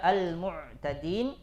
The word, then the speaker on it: المعتدين: Harusnya dibaca al-mu'tadin karena mau cepat bacanya misalkan kan dipentalkan al-mu'tadin mu'a ya, ya'lamun ya'mahun. Nah, itu enggak boleh. Karena dia tidak punya sifat qalqalah.